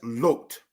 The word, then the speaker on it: Lot: exalted father all right here we have lot but in the language it is pronounced as looked all right for edification